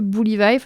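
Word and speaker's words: Buliwyf: Et je pense notamment au majestueux Bully Vife, alors ça se prononce plus ou moins comme ça. C'est pas l'orthographe le plus évident du monde, donc on va dire Bully Vife, c'est très bien.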